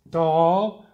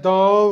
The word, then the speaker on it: doll: doctor doc dell dill doll notice that doll rhymes with ball yeah students get really